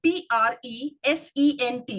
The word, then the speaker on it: present: So when you say present, what does it become? It becomes a noun. And what Toastmaster Kashif said, present, makes it a verb.